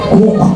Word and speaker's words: Coke: niyo tanong kung sino nagc pero sir Edward cook ang pagpronounce nian ang sinabi niya a man's H